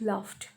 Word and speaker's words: laughed: Now the next word, laughed. Only one syllable, LAUGHED. See here, GH is sounded here as fa.